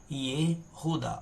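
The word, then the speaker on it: יהודה: Aqui nós temos o Yud, nós temos aqui um Shevá aqui embaixo, significa que é para permanecer a pronúncia do som do Yud, o rei.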